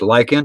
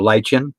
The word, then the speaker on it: lichen: HO scale I use lichen or lichen depending on who you talk to and how it's pronounced what part of the country you're in this I cut it